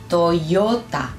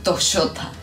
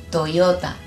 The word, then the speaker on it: Toyota: Lo podemos pensar como una I y latina, no sé cómo lo digas, una I, está ahí, pero bien juntito. Ya, yu, yo. Por ejemplo, la marca de autos, esta, se lee Toyota, yo. Los argentinos decimos Toyota. No, Toyota.